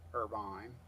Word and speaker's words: Irvine: venue in Irvin Kentucky Irvine we pronounce it irvan over here though we're Hillbillies um and uh kind